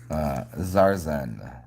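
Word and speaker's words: TsarZen: Zarzen. It's like Tarzan, but it's spelled TSAR underscore ZEN.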